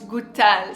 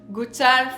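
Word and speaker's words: Goutal: perfume from this brand this is of course gutal so pronounce gutal from the owner the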